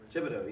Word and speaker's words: Thibodeau: Thibodeau, yeah.